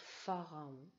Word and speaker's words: pharaon: accueillir le tombeau du pharaon donc vous l'avez sur la feuille de route mais c'est ph à air à eau et comme ça se prononce farah ph à ras el